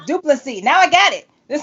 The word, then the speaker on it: Du Plessis: It's not Du Plessis with the S on the end. No, the S is silent. Okay. So, that's all you had to say. Du Plessis.